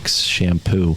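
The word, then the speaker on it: Champoux: head no but yeah it's spelled c-h-a-m-p-o-u-x shampoo and he's very very interesting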